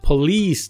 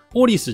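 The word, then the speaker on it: police: なんですけど実際の発音はポリースと言って発音記号で書くとねこういう発音記号なんですねポリースでこのリーのところにここにアクセントが来るんですよポリスじゃ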